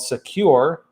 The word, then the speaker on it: Sekur: now a new email and messenger app called secure that's spelled s-e-k-u-r they can give privacy legitimately and